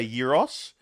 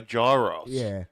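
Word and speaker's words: gyros: we say in in in Australia we say Yos but over there they say gyro yeah but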